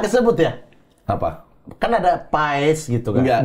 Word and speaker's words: Paes: Kan ada Paes gitu kan. Enggak, itu karena dia nenek moyangnya dari Belanda Selatan dekat Belgia, AE disebut A, tapi itu pas bacanya.